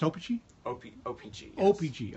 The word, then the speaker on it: Opechee: think now open Cheon it's pronounced Oh peachy okay Oh peachy Oh